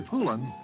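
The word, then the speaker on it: Poulan: for over 30 years people have been buying poland chainsaws would use anything but a pool in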